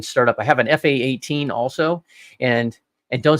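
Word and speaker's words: F/A-18: to have a talk don't say F-18 it's an fa-18 it's a fight attack 18. I hate it when people say it wrong sorry I'm former U.S military say it right but yeah that that's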